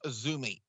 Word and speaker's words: AZM: lady whose name is spelled azm but it's pronounced Azumi if you watch that